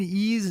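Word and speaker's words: Eaze: Ease has had a very busy week this week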